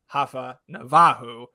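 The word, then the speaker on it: Rafael Navarro: Which if if you are unfamiliar with the player, uh it his name is Raphael Navaro, pronounced Hafa Navahu.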